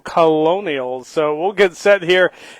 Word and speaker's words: Colonials: Excuse my pronunciation there, not Colonels, no, Colonials.